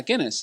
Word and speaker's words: Guinness: Am I pronouncing that right? Yeah, Guinness.